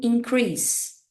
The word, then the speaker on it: increase: e o substantivo aumento então quando a gente está falando do verbo a gente lê Esta palavra como increase increase agora quando a gente